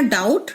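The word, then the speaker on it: doubt: इसी तरह डाउट। डाउट एक फ्रेंच वर्ड है। अब डाउट में बी का साउंड जो है वो साइलेंट है।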